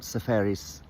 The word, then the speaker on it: Seferis: Um anyway we had lunch one day and he told me all about Sepharis.